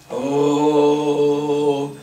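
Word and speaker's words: ॐ: And then you chant Om 11 times. How to chant Om? Om chant be canted from the navel. Om, like the roar of a tiger.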